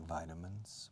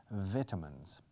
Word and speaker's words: vitamins: Por cierto, los británicos dicen vitamins. Y los irlandeses. Vitamins. I don't agree. I prefer vitamins, the American and Canadian pronunciation, because it comes from the word vitality, vitalidad, vital, vital.